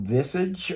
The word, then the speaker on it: visage: The word is pronounced visage. It's a French-derived word meaning face or appearance.